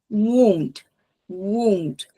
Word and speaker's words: wound: gente chama wound wound lembrando que quando eu falo essas palavras vamos imaginar que tá eh fazendo o movimento de um escorregador então W tem que ter de novo ali tem duas vogais e eu tenho que ter o tempo dessas duas vogais w e dressing que